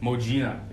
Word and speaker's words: Modjinah: Modjinah is her name.